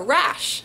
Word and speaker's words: Raasch: Uh, but the name on the cover of my book is Sarah Rash. It's German. It's that's the American pronunciation cuz my family's American and we say it like rash like rash.